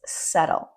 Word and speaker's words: subtle: It's not subtle or subtle. It's subtle. Subtle means not very noticeable.